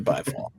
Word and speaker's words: Byfall: Yeah, and also learned that his name is pronounced By, not Bay. Which that surprised me, but we are course correcting here at the Alleycat World Headquarters to Byfall.